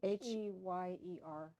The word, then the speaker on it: Heyer: These Old Shades and The Devil's Cub, which are, Georgia Hare. Heyer. yeah, it's pronounced hair, even though you want to say higher.